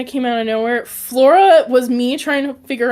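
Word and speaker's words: Floura: So of course people are going to pronounce it flower because it's spelled with o u r. So f l o u r a. But it's flora. I promise it's flora.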